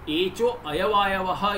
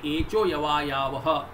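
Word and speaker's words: एचोऽयवायावः: So some people pronounce this sutra for better understanding they say but sutras are not to be split there should be no split in the sutra so echo ayavayavaha is the pronunciation by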